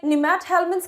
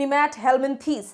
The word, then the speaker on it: Nemathelminthes: नाम है Aschelminths, जिसे Nemathelminths के नाम से भी जाना जाता है. कई लोग इसे pronounce करते हैं as Aschelminthes and Nemathelminthes.